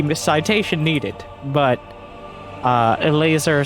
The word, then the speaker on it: Elazer: citation needed but uh a laser saying that's how you say it not elizor not e or el azer no e laser i don't i don't